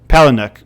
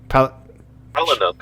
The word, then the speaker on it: Palahniuk: Oh, Palahniuk. Palahniuk, okay, right. So my Russian/English tongue is just not... Yeah, yes. Palahniuk, I think.